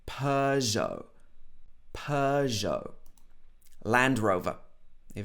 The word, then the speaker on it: Peugeot: Again, not the French pronunciation, but if we're making it English, we say Peugeot.